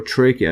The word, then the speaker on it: trachea: larynx uh and tracha see the pronunciation larynx and tracha or trachea not traa anyways so here is